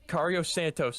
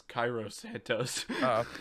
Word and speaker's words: Cairo Santos: But Yeah, I mean you can't even say his name. I'm pretty sure it's Cairo Santos.